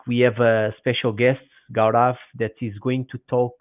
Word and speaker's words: Gaurav: all Goods um so I I hope I'm pronouncing correctly your name is is that correct so gav yep you are you are taking it very